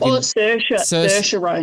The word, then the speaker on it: Saoirse: Is it Saoirse Ronan? She was like Saoirse Ronan. Thank you, see. Yep, there you go. I told you the pronunciations are never good.